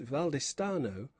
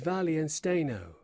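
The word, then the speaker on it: Wallenstein: they call him, and whether his right name is German, again interrupted the Podesta, is Valian Steno, as I have often heard it pronounced by our Spanish senor, the governor of the castle.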